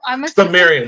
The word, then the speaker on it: Cimmerian: we have and I asked D how to pronounce his name, and then I just completely Cimmerian, Cimarron, Sumerian? Cimmerian.